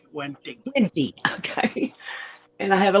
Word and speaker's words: wendtii: Crypt Wenty. wendtii.